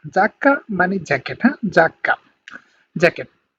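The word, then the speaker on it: giacca: ওকে, তারপর দেখেন জি ই আ, তার মানে উচ্চারণটা হবে যা, হ্যাঁ, জি ই আ যদি একসাথে থাকে তাহলে উচ্চারণ হবে যা এর মতো, মানে জাকা, জাকা মানে জ্যাকেট, হ্যাঁ, জাকা, জ্যাকেট।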